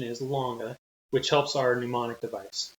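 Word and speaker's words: Lange: to come across videos that's called the james lang theory okay heard it both ways the correct pronunciation is longer which helps our mnemonic device so mr woodard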